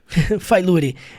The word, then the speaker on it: failure: Olha só que interessante, a palavra se escreve failure. Failure. E você e você vai falar como? failure. Você escreve failurri, mas você fala failure.